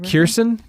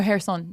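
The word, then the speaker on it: Kherson: It's like uh is it Kirstson? Oh, Harrison. Yeah. Or Harrison. That's right. Not Kirstson. Kirsten's definitely not how you pronounce it.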